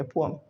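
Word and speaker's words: poem: आप बचपन से बोल रहे हो पोएम, पोएम नहीं होता, एग्जैक्ट प्रोनाउंसिएशन होती है पोअम। क्या होती है, पोअम, राइट। आगे से पोएम नहीं कहना, इट्स पोअम, अंडरस्टूड।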